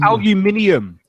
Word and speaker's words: aluminium: It's aluminium. Aluminium. That's how do you spell color? You spell it with U, don't you?